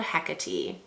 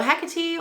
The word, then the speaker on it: Hecate: That one came from Lemming Lacquer, and it's called Hecate. So Hecate or Hecate is, and I did look it up because I was curious how to say it.